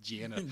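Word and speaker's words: Jehnna: like a conan name i know they spell it with an h but you can't hear the h so it just sounds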